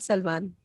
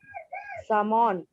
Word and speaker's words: salmon: No, not Salman. Salmon. Mihir? याल देवी? बोलो. Can I? Yes, जन्नत? Salmon. नहीं. सामान? Salmon. कौन सा सामान? L is silent.